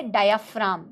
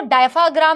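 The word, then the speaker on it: diaphragm: Bottom में होता है डायाफ्राम। बेटा इसको डायफाग्राम नहीं बोलते, इसकी स्पेलिंग ऐसी लगती है कि लगता है डायफाग्राम है, बट इट इज डायाफ्राम।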